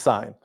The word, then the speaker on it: sine: And so the ratio that includes opposite and hypotenuse is sine. Even though it looks like sin, it's pronounced sine.